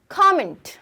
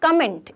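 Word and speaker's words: comment: अब है, हम बोलते हैं कमेंट कर देना, ये मेरे पिक्चर में कमेंट कर देना, कमेंट मत करना, इट्स कमेंट, कमेंट, ठीक है, इट्स नॉट कमेंट, इट्स कमेंट।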